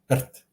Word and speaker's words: rt: In Croatian, it's rt. Just like that. Try pronouncing that. Rt. Just RT. Rt. Where's the vowel, you say? Well, the R is the vowel.